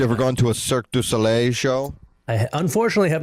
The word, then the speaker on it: Cirque du Soleil: Cirque du Soleil. Yeah, that's the style. Does he say it properly? Probably not. Am I? Yes. Cirque du Soleil.